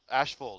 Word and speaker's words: Asheville: So we got Grublets on ice, and is it Asheville or Asheville? Asheville. Rooftop. Asheville Rooftop. Asheville. That's how they say it.